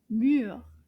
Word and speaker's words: mur: Now let's clap to see combien de syllabes dans le mot mur. Mur. Wow. Did you see that? That's a very short word. Mur. Une syllabe. Juste une syllabe.